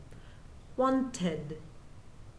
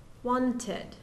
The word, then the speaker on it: wanted: in t or d then the Ed D forms an extra syllable and sounds like so for example want want in the past tense wanted wanted we have two syllables now how about need